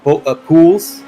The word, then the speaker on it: Pools: Christopher Anda Lamar Pools, uh we we learned that that is pronounced pools.